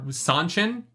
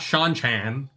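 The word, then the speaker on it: Seanchan: they are domain I'm not saying Damani they are sanchin not Sean Chan and yeah yeah there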